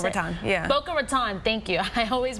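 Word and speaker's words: Boca Raton: north of Broward County and Palm Beach County boaat Raton right that's how you pronounce it boa Raton thank you I always mispronounce that City uh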